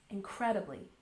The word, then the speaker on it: incredibly: Let's stress the second syllable. Incredibly.